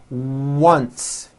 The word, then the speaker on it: once: Also be aware that the W sound occurs in some words beginning with the letter O, like in the words one and once.